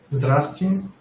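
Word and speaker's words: Здрасти: Zdrasty.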